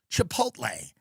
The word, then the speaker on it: Chipotle: worked, you know, if you worked at Chipot Chipotle, Chipotle, is it the L at the end? Because some people pronounce it the other way. I don't I agree. It's Chipotle.